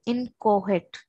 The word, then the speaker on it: inchoate: Hence, it is called inchoate. C is silent.